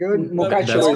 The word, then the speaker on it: Mukachevo: Mukachevo is the right pronunciation. That's correct.